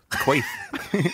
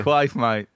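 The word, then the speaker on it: Quaife: How do you pronounce the bass player's name in the Kinks? Oh, Peter Quaif? Quaif. Quick. Yeah. It sounds like an... Quaif. Like Quaif. Quaif. Yeah. Quaif, mate. Quaif. Peter Quaif.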